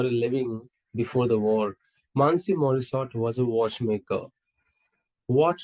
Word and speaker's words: Monsieur: Actually, it's pronounced as Monsieur.